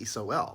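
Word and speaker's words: sol: Okay, the sun's Latin word for sun is S-O-L, so you pronounce it just like S-O-U-L, it's soul.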